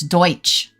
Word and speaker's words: Deutsch: Funny how it's pronounced Deutsch. No, it's Deutsch. It's a ch at the end.